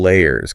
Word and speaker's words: layers: important and of course don't forget that pronunciation of l layers can you add some